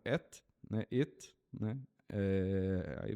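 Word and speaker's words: את: Ela não tem nem pronúncia direito. Eles colocam um e ali para pronunciar como et, né?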